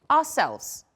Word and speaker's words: ourselves: Next one, we, ourselves. Let's look at this part. We pronounce it is not ourselves, but ourselves.